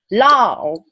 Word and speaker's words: Lao: So here's a word that I want Olivia to pronounce. Okay. Okay. Lao.